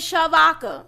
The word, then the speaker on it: Shavodka: Like my mama spelled my name wrong at birth. But she meant Shavodka though. It's Shavodka. My name is Shavodka.